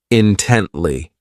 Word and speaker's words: intently: This adverb has three syllables and the stress is on that second syllable, intently.